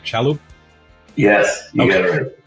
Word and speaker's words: Shalhoub: I say it right, Shalhoub?